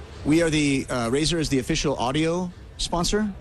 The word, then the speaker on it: Razer: Euh Alan, pour parler de de la marque, comment on la prononce exactement ? Brander. Razer. Razer.